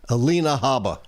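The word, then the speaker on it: Alina Habba: Alina Haba.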